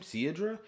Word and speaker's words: Cerydra: That's how you pronounce her name. Cedra.